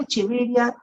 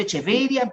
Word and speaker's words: Echeveria: Y bueno, yo lo pronuncio Echeveria, pero algunos quieren pronunciarlo en latín, pueden decir Echeveria, aunque lo correcto en latín sería decir Echeveria, pero suena tan raro que ya, no, yo prefiero decir Echeveria.